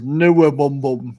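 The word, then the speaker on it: NWOBHM: Or Newabum, as it's called. I can never pronounce that acronym.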